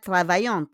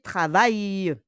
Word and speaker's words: travaillent: It's not travaillante, hein? It's the pronunciation po. Be careful with your pronunciation. It's not travaillante, mais travaille. Okay? Les boulangers travaillent. Travaillent.